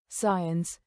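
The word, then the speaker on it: science: साइलेंट सी मॉन सी, जब एस के बाद सी आए तो सी अक्सर साइलेंट होता है। उदाहरण साइंस साइंस, सेंट सेंट।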